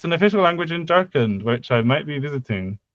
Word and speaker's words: Jharkhand: And it's an official language in Jharkhand, which I might be visiting Where? sometime. Jharkhand.